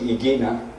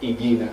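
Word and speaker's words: Ighina: The Italian genius Pier Luigi Igina, he said that in the centre of the sun is a heart that beats at the same rate as our heart.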